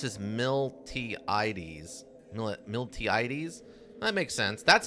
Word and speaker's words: Miltiades: about how it's like Miliades, which is interesting. Like the T is silent.